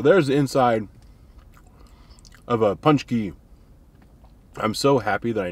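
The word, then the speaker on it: pączki: my mouth so there's the inside of a punch key i'm so happy that i know how to pronounce these that is good i generally don't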